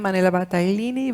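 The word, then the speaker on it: Manuela Battaglini: you don't mind introducing yourself so um I'm Manila battalini very well pronounced by the way I am from the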